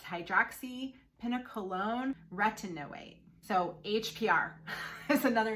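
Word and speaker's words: hydroxypinacolone retinoate: acid esters is something called hpr it is pronounced hydroxy pina colon retinoate so hpr is another name for it however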